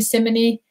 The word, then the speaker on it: Simone: name and the band some of the band members they call me simony because that's what my name was when i when we went to china so and i know